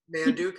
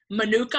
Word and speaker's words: manuka: by bees for bees Manduca honey worth it or not mmm manuka honey am I saying it right you're not actually you hey manuka honey all right it is